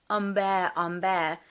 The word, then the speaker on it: Humbert: And if you pronounce his name as probably Nabokov intended it, Humbert, the French pronunciation, there's a whisper of the French word ombre, which means shadow, which is possibly why